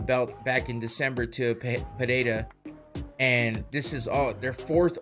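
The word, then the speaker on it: Pereira: Apparently, there's no H sounding in his name. It's an R. So, Pererira. There you go.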